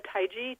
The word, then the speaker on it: Taigi: Her name is Blessed Anamaria Taii.